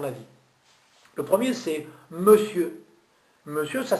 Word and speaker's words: monsieur: Monsieur, ça s'écrit M-O-N-S-I-E-U-R. Et vous ne dites pas monsieur, vous dites monsieur. Vous entendez M-E-U-S-S-I-E-U-R. Monsieur. Et pas monsieur.